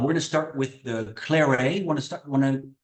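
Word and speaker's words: clairet: to be confused with Clare so Clare is actually c l a i r e t we don't pronounce the T at the end and CLA CL a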